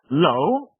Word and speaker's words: low: Low, meaning nisko, and law, prawo. And here's the thing. We Polish very often say both these words the same, low. And it's not that. It's law. It's exactly as if there was simply law.